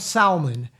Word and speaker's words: salmon: Uh anyhow, so when people hear say salmon, I want salmon, the L is silent.